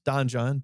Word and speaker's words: donjon: on the donjon card we're not mispronouncing dungeon it's Donan d o NJ o n and it also introduces a new location which is the Don joh sphere that sphere is